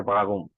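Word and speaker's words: warum: উচ্চারণ যেটা ওইটা হচ্ছে বাগুম ঠিক আছে বাউম আর এর উচ্চারণটা একটু গ এর মত উচ্চারণ হবে বাগুম আপনারা যদি কোন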